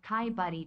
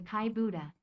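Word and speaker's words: Kai Budde: Let us take this moment to correct the TTS's pronunciation of Kai Buddy to Kai Buddha.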